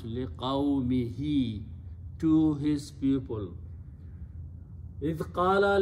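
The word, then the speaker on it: لِقَوْمِهِ: pronounce don't change, but for the reason of having two kasras next to each other, easy tajweed, we pronounce liqaumihi, to his people.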